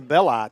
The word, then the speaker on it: Belli: That I is a long I.